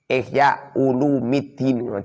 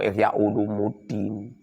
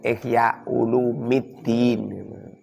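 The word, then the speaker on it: إحياء علوم الدين: kitab, fi ihya'i ulumiddini, ihya ulumiddin, ojo ihya ulumuddin, salah itu. Long ihya ulumuddin, ihya itu mudhof, ulumi itu mudhof ilaih. Mudhof ilaih dibaca rafa pernah bacir. Bacanya itu ihya ulumiddin.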